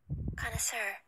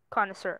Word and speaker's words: connoisseur: you even pronounce that oh okay so it's pronounced connoisseur connoisseur okay an expert judge in matters of taste